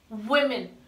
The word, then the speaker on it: women: that's how they call it by the correct pronunciation for this word is women here in this word we will here's the